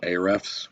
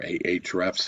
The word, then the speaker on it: Ahrefs: So I have your website, and the tool that I have is called Ahrefs or Ahrefs, however you want to pronounce it.